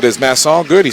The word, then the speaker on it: Masson: N I said is mass all good he said that's good he said just don't say Mason Mason is 1s so